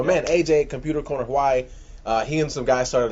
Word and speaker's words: Hawaii: And if I remember correctly, I think is it pronounced Hawaii? Hawaii. Yeah, there's if you live there. like in between a V and a W.